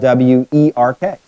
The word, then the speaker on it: Werk: section of Switzerland, and the word work in German is spelled W-E-R-K, pronounced Werk.